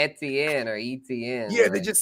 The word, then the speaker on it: Etienne: Oh yeah, and Etienne's brother, Trevor Etienne, transferred to Georgia. Do you think he got balls and he tells everyone it's pronounced Etienne?